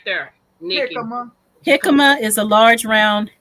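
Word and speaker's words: jícama: That does not say jicama. That say I know. I know. so the J turns into an H automatically.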